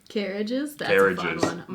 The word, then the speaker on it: Càirdeas: mark on it finally so you know how to pronounce it without the grave mark it's more like cages or carriages carriages try that out um so that's nice